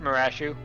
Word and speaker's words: Marashu: pronounce your name not bryce that is not how i would have pronounced bryce off for the record most people would say brace off i think i was going with like resolve that's also a pretty common one uh but no i i usually uh pronounce it marashu um i think that's